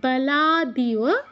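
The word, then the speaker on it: বলাদিব: স্নেয় ওয়ার স্নেয়া মূর্ধন্য সাথে মূর্ধন্য যুক্ত আছে উচ্চারণ শুনে যেন সেটা বোঝা যায় তারপর বালাদিয়া একটু জুম করে দেখাই এখানে হয়তো বোঝা যাচ্ছে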